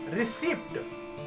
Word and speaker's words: receipt: It is never pronounced in this word. So this is not receipt. This is not receipt.